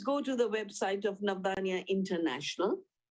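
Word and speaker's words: Navdanya: see it please go to the website of nabania international navdhania is spelled n-a-b d-a-n-y-a it means nine seeds and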